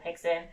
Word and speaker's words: Rickson: And I would always say, "Why are we calling him Hickson when it's spelled Rickson?" And he's like, "It's Brazilian."